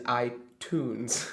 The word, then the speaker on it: iTunes: the last one is iTunes yeah I Tunes cuz it's like I and tun music tun like a music tune many Tunes ites so